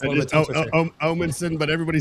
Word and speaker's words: Omanson: Omanson, but everybody says Omanson, so it's totally fine. Oh, Manson. Yeah, there it is. I gotta really pronunciate that O.